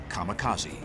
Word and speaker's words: kamikaze: They called it divine wind, which in Japanese is pronounced kamikaze.